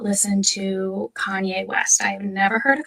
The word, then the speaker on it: Kanye: do not listen to Kanye West I've never heard of Kanye's song I used to pronounce his name Kane because I'm a little dyslexic and that's how I read it but I was part